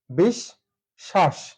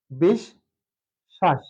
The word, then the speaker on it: বিশ্বাস: তালাবস্য আসবে আরেকটা বিষয় যেহেতু বফলা মাঝে আছে এক্ষেত্রে তালাবস্যটা দুইবার হবে তাহলে বিষ 20 থেমে গেলাম বিষ শ্বাস বিষ শ্বাস এখানে হচ্ছে বিষ একটি